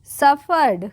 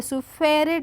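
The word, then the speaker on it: suffered: है सो the Dunki सफर्ड क्या होगा सफर्ड सु फेरेड नहीं पढ़ेंगे ठीक है क्या पढ़ेंगे सफर्ड सफर्ड सरली सरली सरली नहीं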